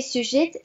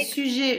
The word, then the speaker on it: sujet: Voilà, on espère que ces sujets les inspirants. C'est pareil, sujet. Le T qui à la fin ne se prononce pas. C'est comme dans candidat. C'est sujet. Sujet. On ne dit pas le T.